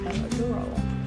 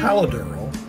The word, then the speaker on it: Palo Duro: Palo Duro? Yeah. Palo Duro. I say Palo Duro. Well. That's our training. Palo Duro.